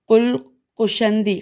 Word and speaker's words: قلقشندی: ذرا سا مشکل ہے، ہم ہجے کرتے ہیں، قلقشندی، قاف لام قاف شین نون دال چھوٹی ہے، قلقشندی یا قلقشندی نے کتاب صبح العاشی